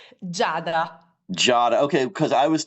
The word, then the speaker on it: Giada: I in the names, but in Italian is like we don't pronounce the I in the name. It's Giada, like it would be like with a J, like Jada Pinkett Smith, Oh, the actress. Yeah, it's the same, but the Italian version, we pronounce the J with a G I.